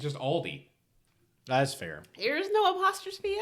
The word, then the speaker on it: Aldi: It's just Aldi. That's fair. There's no apostrophe S? No, it's just Aldi. Oh. Yeah. Wait, Oh, Aldi's isn't called Aldi's? No, there's no S.